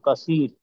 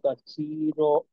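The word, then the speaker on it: كثيرا: আল্লাহ আল্লাহুম্মা ইন্নী জালামতু নাফসি যুলমান কাসীর ওয়ালা কাশির ইয়াক এখানে এখানে আপনার যেহেতু দুই জবরে অক্ষ হচ্ছে, তো সেক্ষেত্রে একালিফ টানতে হবে। যুলমান কাসীর কাসীর কাসির।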